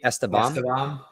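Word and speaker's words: Estevam: And Rafael, can you pronounce his last name for me? Esteban.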